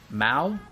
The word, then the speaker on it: Mao: uh I I think her name is pronounced Mao m a o uh